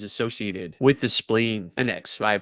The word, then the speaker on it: Xi: with the spleen; and Xi pronounced like she, which connects the whole body.